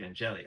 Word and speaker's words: Angeli: Syracuse, boy, you wonder how could that team have looked if Steve Angeli had Steve Angeli, I think it's pronounced. Yes, Angeli, yes.